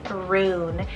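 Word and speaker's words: Rune: then we have a roon it's called r-u-n-e roon and this one's kind of magical it's german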